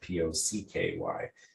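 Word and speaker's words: Poky: It's essentially a long, straight pretzel that's been dipped in chocolate, and it's P-O-C-K-Y. The name of the Pocky distribution was named after that particular food, effectively, and so that's how it's pronounced.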